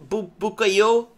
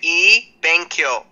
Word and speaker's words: Ebenkyo: I'll pronounce it for you. Ebenkyo. Benkyo means to study in Japanese. Okay. And the pronunciation of means good in Japanese, but it's spelled with an E. So Ebenkyo.